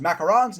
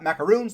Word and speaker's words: macarons: Will's exotic macaron site yep it's pronounced macarons not macaroons they're two different types of cookies made other places in